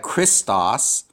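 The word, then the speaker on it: Χριστός: So here we have Christos, and this key and this row, this k sound plus this R sound. Have we seen words that begin like this? Yeah, Christmas, right?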